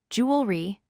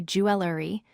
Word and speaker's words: jewelry: This word has 2 syllables, jewelry. Many people add extra syllables and say jewelry.